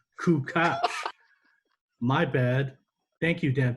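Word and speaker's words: Kukoč: And how about us finding out that we've been pronouncing Tony Kukoc's name wrong? It's actually Tony Kukoc.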